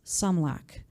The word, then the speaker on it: Sumlak: Sorry, and I keep saying Roland's name improperly. I'm going to correct that right now. It is pronounced Sumlak.